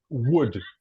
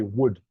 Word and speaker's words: would: in English you really you do not pronounce a letter L so you don't say w w w no you just say would would forget about this